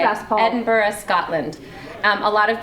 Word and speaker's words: Edinburgh: as how it's spelled, a lot of people um pronounce the hard G, but you're not supposed to.